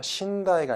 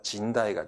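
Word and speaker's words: 甚大: 그때 쓰는 단어인데 발음 조심하세요. 신다이가 아니라 진다이가 됩니다.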